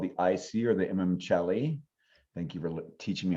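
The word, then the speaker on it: Imum Coeli: Then we have what's called the IC or the Imamcelli. Thank you for teaching me how to pronounce that properly.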